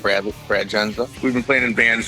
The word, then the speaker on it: Jendza: Am I pronouncing it right? Jendza? Yep, that's it. Derek Jendza.